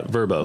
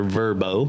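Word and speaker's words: Vrbo: probably two or three verbo is that you say it vrb yeah verbo okay vacation rental by owner verbo and that's how they pronounce it in the commercials right so uh this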